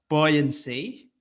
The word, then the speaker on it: buoyancy: of vowels there it it is pronounced buoyancy buoyancy so we've got combination of three at least three uh vowels there are bo or uh